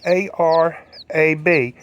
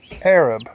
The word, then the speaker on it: Arab: Tick Tock a couple times the town name is spelled a-r-a-b and you may think that that spells Arab her um but it doesn't it is pronounced